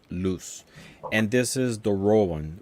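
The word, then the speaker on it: Luis: and it's spelled this way, like Lewis, but it's actually pronounced loose.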